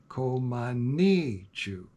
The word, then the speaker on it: Komanichu: She's very specific on this, 4 syllables. Komanichu. She's also very clear that the accent is to be placed on the 3rd syllable, ni.